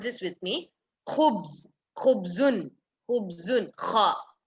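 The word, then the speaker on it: خبز: Khubz, khubzun, khubzun, kha. Kha again, it's a tafqeem.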